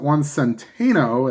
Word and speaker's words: Juan Centeno: So the Twins have runners on first and second, and that brings up Juan Centeno, as I've now found out the correct pronunciation.